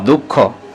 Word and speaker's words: দুঃখ: চন্দ্রবিন্দু আলাদা করে উচ্চারণ দুঃখ দর উকার দু বিসর্গ খ দুঃখ তারপরে চন্দ্রবিন্দু আলাদা করে